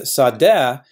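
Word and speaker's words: שָׂדֶה: With sadeh, we have to remember that the hey isn't a real consonant, it's a phony hey.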